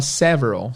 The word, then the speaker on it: several: r a l several mas se fala sevron cérebro que parece Severo